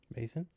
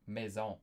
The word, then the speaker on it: maison: That was when they were like Mason? Mason? Is that Yeah. what? Maison.